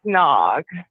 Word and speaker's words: Nag: and I named it Nog. Like in Ricky Tikki Tavi, like the Cobra's name is N-A-G, Nag. It's kind of funny, like Nag's head, it's pronounced Nog.